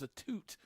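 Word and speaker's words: Atout: she said it is a toot Canadian so that's the you know she's like you always try to y'all Americans try to Americanize it is the exact quote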